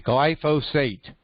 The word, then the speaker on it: glyphosate: here's the spelling glyph will say g l g l y p h o s a t e glyphosate okay okay took me uh six months to learn how to pronounce that word i'll glyphosate go with that